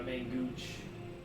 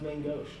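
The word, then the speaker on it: main-gauche: It's gonna be my main gooch. All right, so you're using a piercing weapon. Yeah. Oh, apparently it's pronounced main gauche.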